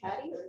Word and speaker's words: PADI: He is a PADI, is it pronounced PADI?